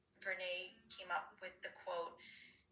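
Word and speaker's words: Brené: very well-known brene Myers some of us think her name is pronounced bernai Berna but it's Renee came up with the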